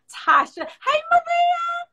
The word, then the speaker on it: Tasia: i am tasha i know it looks like tasia spelled t-a-s-i-a that's correct but it's pronounced tasha um it's pronounced tasha and this is